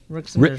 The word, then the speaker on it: Rijksmuseum: Rijksmuseum. It's Rijksmuseum. Yeah, is it Rick's Museum? Yeah, okay. It's just Rick. It's Rick's museum.